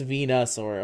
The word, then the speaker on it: Venusaur: it was no it's Venusaur okay I don't know why the spelling of it there made it look like venu well because it is I mean it's not pronounced venu but it's spelled venu really v n u